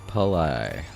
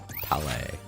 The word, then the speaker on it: Pale: Is this Ethereal Pai? Pale is how it's pronounced.